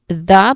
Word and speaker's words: the: It is unstressed. It is pronounced as the because there's a schwa sound in there unless followed by a vowel sound.